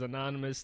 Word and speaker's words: Enonomous: African languages so what how do you say now you heard it many times before as mad guys like I said before this is anonymous thanks for coming down